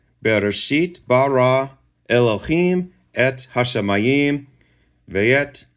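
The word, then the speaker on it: בראשית: This first word right here is pronounced Bereshit, and it means in a beginning, not in the beginning, but in a beginning.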